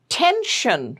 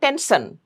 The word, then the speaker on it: tension: Tension. It's not tensson. It's tension.